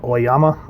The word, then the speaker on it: Oyama: her first appearances as lady yurko or oyama i believe is how you pronounce her last name was